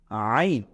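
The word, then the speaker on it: عين: নেই এটাকে আমরা বলব আইন এটাকে আমরা বলব আইন এটা ভেতর থেকে চাপ দিয়ে পড়তে হয় আইন গলার ভেতর থেকে আনতে হয় এটাকে আমরা বলবো আইন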